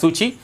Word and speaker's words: Suu Kyi: It was around this time that Aung San Suu Kyi, okay, we pronounce it as Suchi, the daughter of Aung San, has come into began to fight for the reforms in Burma.